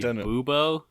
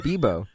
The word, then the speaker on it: Bubo: It's actually Bubo. No, it's Bebo.